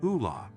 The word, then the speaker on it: Ole: Even though Roy is a petty tyrant with fascist leanings, he determines it might be time to investigate the situation surrounding this Ole, pronounced Ula, individual because he is familiar with how investigations are conducted.